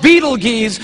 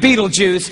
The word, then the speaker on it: Betelgeuse: heard about this star it's called beetle G's or Beetle Juice you can pick your pronunciation I'm obviously going with Betelgeuse and Betelgeuse is incredible